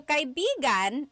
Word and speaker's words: kaibigan: have a couple different meanings depending on its pronunciation, depending on the context. So kaibigan is friend.